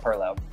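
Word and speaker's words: pilau: l Au U um it does have different spellings different pronunciations we call it Perlo and um in this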